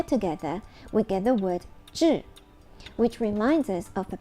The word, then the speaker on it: 智: The Chinese pronunciation of this word is 智.